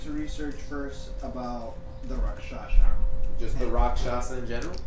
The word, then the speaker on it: rakshasa: you learn is that it is pronounced rakshasa um not rashasa rasha ako um and you